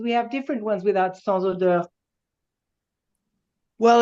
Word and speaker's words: sans odeur: I don't know how it would be pronounced Ah, in ok, French, et but sans odeur, d'accord.